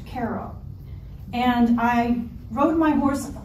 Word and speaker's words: Cairo: Cairo it's spelled like Cairo Egypt but it's pronounced Cairo and I rode my horse up with some